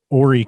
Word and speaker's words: Horry: Horry County contains Myrtle Beach, North Myrtle Beach, Conway. It's a huge county geographically. It's important to note that Horry County is spelled Horry, but the H is silent because it is named